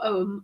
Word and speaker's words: Ogham: Both pronunciations of Ogham or Ogham are correct. Ogham with a silent G is Irish Gaelic, but Scottish Gaelic apparently is pronounced with the G.